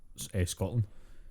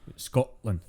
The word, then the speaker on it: Scotland: the fatal mistake of trying to pronounce the t in any way shape or form in the word scotland we don't do it scotland people who say like